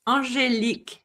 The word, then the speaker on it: Angélique: Is it Angélique? Am I saying it correctly? Yes, Angélique. So you're very close. Angélique. Yes. Yes, because it's French.